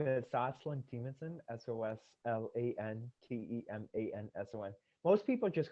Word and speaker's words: Soslan Temanson: So my name is Soslan Temanson, Soslantemanson.